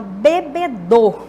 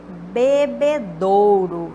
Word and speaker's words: bebedouro: pronúncia das pessoas então bebedor por exemplo tanque de bebê do ao invés de Bebedouro Vista casa de pronúncia